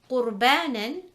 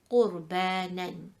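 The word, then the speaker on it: قُرْبَانًا: Qurbanan, the Ra sakina is preceded by a qaf which has a dhamma, so it will be red heavy, Qurbanan.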